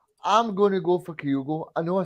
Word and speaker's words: Kyogo: I think the fans, I'll say it like Ange, Kyogo.